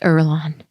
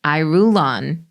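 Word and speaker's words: Irulan: And by the way, I would have never known that was pronounced Erlon. Yeah. I literally was pronouncing it I rule on.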